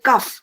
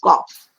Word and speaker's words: cough: the reasons possibly that people say cuff instead of cough because they think that it rhymes with tough but that is cough and this is stuff